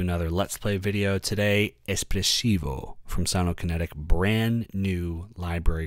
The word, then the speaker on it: espressivo: If you say espressivo, you can close this window and leave and go to Starbucks and get an espresso cuz that's not how it's pronounced. Espressivo.